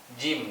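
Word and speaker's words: جيم: Jadi ada semua yang belum tahu ini huruf apa. Ini adalah huruf jim ya. Nah, jim, bukan ja tapi jim.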